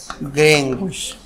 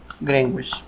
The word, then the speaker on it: Greenwich: Ah, muy bien, ya tú lo pronuncias bien entonces, del meridiano de Greenwich, ahí está, Greenwich, Greenwich.